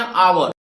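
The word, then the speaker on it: hour: अब देखिए ये भी शुरू हुआ है एच से, लेकिन आप इसको पढ़ते क्या है? हावर की आवर, आप पढ़ते हैं आवर।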